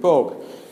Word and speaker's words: Pogue: to my friends, said Pogue rhymes with Vogue, how about I make a picture of him on the cover of Vogue?